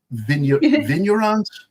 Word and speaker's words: vignerons: de, this is French, vignerons, I think, how that's pronounced. The G is silent, right? Vignerons. Let me find it. It's Vignerons.